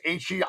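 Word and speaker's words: Himmler: I think you can say his name and you're not really in trouble, but it's Heimler.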